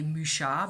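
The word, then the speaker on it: Mucha: tahoe misha and yes i say musha because that's the way it's pronounced in france and that's where i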